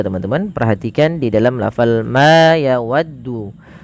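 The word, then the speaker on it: ما: Perhatikan di dalam lafal ma yawaddu. Pada lafal ma ini panjangkan huruf ma sepanjang 2 harakat karena ia memiliki huruf alif.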